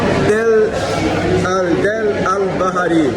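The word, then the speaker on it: Deir el-Bahari: Pessoal, Del Al-Bahari. Essa é a pronúncia correta.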